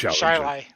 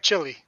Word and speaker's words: Chili: There's a suburb of Rochester, New York, spelled Chili, but it's pronounced Shiley.